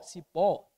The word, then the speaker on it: cipó: é oxítona ou seja sílaba tônica recai sobre a última sílaba jacaré é uma oxítona Professor beleza mannia é uma oxítona é não Mania paroxítona Cipó Cipó é oxítona mas não pode ser